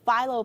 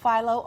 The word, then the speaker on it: phyllo: It's acceptable either way. Phyllo, phyllo. Which is more acceptable, though? You know, phyllo is what I call it. Okay, I'll stick with that. And it's spelled both ways, F-I-L-O or P-H-Y-L-L-O. And it's of Greek origin, actually, but you can make it with any accent that you want.